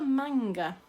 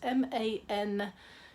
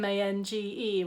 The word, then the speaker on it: Mangar: spell it properly, it's mangar. As I kept on writing incorrectly beforehand, I kept saying mange, which is nothing to do with that at all.